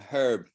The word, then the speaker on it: herb: A herb. You know what a herb is? Yeah. The Americans say herb. Americans don't pronounce the H.